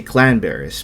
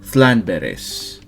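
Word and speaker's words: Llanberis: Even though it's spelled Landberries, you still have to say Clanberries, but if you live around here, you'd probably say Thlanberries.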